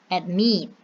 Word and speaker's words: admit: For example, admit, admit, add one syllable, meet two syllables. So admit two syllables, admit the stressing in the last syllable.